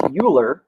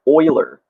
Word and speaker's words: Euler: many people think it's Euler it's actually not correct its Euler so if you were to pronounce it phonetically like the oil you put in your car Leonard Euler was a mathematician who